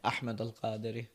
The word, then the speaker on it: Ahmed: What's the mo most authentic way to say your name? Ahmed. Beautiful. Beautiful. And but most of people call you Ahmed. They say Ahmed.